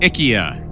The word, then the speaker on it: IKEA: IKEA. Whoa! Jody, you went. How long did it take you to graduate college? Only like 6.5 years, Six right? and a half years. Yeah, IKEA.